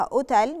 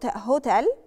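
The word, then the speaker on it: hotel: اللي وراها مثال عليها كلمه اوتيل اوتيل هنقولها اوتيل مش هنقولها اي مش هنقول لها قصدي هوتيل ومثال عليها بعد كده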